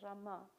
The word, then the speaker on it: Rama: background so sometimes if the Rama it's always like Ram because ktis don't really pronounce it's a soft a it doesn't have to be R but raama there should be an a at the if we're pronouncing it correctly but gujara is are more like Ram you see it's missing